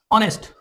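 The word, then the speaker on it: honest: हम कहते हैं एन ऑनेस्ट। इसमें जो एच की आवाज है उसको हम साइलेंट कर रहे हैं। अनसाउंडेड है यहां पे।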